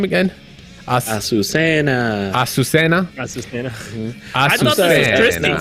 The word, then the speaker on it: Azucena: What how do you pronounce her name again? Azucena.